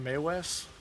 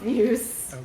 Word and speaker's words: Mewes: Isn't his name pronounced Maywes? Jason No. Maywes? How dare you. M-E-W-E-S? Eh. Am I thinking somebody else? I think you're thinking of Dr. Seuss. Or Carrie Elves. Anyway, I'm talking about Snoochie Boochies from the Jay and Silent Bob cinematic universe. Something's coming. No, I think I am right. No. I'm pretty sure it's Mewes. No, his name is pronounced Muse.